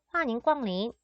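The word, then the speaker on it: 欢迎光临: 자, 중국어로 얘를 읽게 되면은 이렇게 발음을 하게 됩니다. 환, 잉, 꽝, 린, 환인 꽝린 이라고 말을 하게 되면 중국어로 어서 오세요 라는 뜻으로 상점이나 음식점에 가면 자주 들을 수 있는 인사말입니다.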